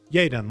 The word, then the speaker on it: Yadon: Yayen. Like, yay, we're done.